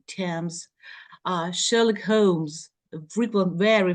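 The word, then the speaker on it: Thames: other way around like Tams we have th but it's t Tams uh Sherlock Holmes frequent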